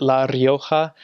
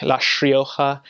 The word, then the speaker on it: La Rioja: La Rioja, and it's normally you pronounce it La Rioja, but there they say their R's, the first R's or double R's with a sh, so it's like La Rioja.